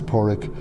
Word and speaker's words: Padraig: PA d ra IG you don't pronounce the D basically it's porec you can pronounce of